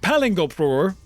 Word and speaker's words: paling: It's pronounced paling, and it's ridiculous.